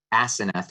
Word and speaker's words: Aseneth: It's Joseph and Asenath, which is spelled Aseneth.